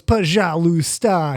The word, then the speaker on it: пожалуйста: And he goes, пожалуйста.